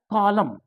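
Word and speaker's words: column: बात करता हूं मैं कॉलम में भी एन है तो ए नहीं पढ़ा है कॉलम इस तरह से कॉलम पढ़ा जाएगा इस तरह से आगे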